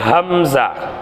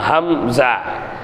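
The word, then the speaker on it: همزة: கொடுங்க கண்டுபிடிக்கலாம் சரியா அடுத்து ஹம்ஸா ஹம்ஸா ஏறத்தாழ ஹாவினுடைய உச்சரிப்புதான் ஹம்ஸாவுக்கும் வரணும் சரிங்களா ஹம்ஸா தொண்டையின் கடைசி பாகத்தில் உச்சரித்தல் ஹம் ஜா ஹம் ஹா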